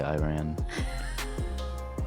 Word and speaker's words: Iran: Iran is how you say it. I'm American. I'll say Iran.